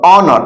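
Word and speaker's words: honour: तो एन लगा देंगे उसी तरह देखिए आवर ऑनर ऑनर मतलब होता है सम्मान एच ओ एन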